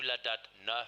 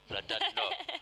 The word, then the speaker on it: Llandudno: This is the top 10 men through Llandudno for you. How did you say? I mispronounced it. Oh, Llandudno.